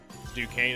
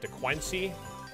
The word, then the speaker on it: Duquesne: Duquesne is how you say it. Yeah, well, when I first saw the team, I'm like, how do you say it? Is that DeQuincy?